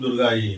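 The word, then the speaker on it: दुर्गायै: रहे हैं, कि वो बोलते हैं ओम दुम दुर्गाई नमः। यह शुद्ध उच्चारण है।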